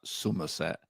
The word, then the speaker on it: Somerset: You have to say it like that, Somerset, right?